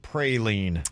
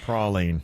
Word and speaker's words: praline: getting curb stomped 92 say it's pronounced praline not praline well those people aren't from